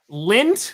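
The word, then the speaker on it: Lindt: the uh the up they're saying lint which is not spelled like lint that's in your pocket l i n DT uh gadiva and she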